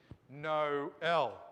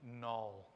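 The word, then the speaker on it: Noël: A diaresis, those two little dots tell us, separate those vowels. Don't say them as a diphthong. Separate them and say them, pronounce them differently. No L, for instance. All right? Rather than singing Noel.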